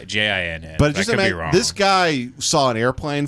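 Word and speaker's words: djinn: Wasn't that J I N. That's G that you actually pronounced that G, right? A jin. Yeah, DG DJ I N.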